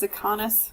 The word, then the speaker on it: Zakanis: It is pronounced Zakanis, Khan, like Wrath of Khan.